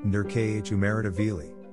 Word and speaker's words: Nodar Kumaritashvili: nadar kumaritashvili georgian pronounced nur khumeritaveli november 25th 1988 february 12